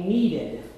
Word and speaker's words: kneaded: This is what you call a kneaded eraser. This is made of rubber, just like your erasers at school, but it's been kneaded. It's spelled K-N-E-A-D-E-D, just like dough that you knead.